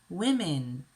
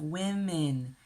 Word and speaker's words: women: man men a woman women be careful with the pronunciation of women it has two short a sounds it doesn't sound the way it looks a woman women now let's practice look